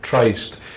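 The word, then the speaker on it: Tryst: Scottish Chamber Orchestra called Trist. This is a continual debate about how do we pronounce that word. Is it Trist or is it Trist?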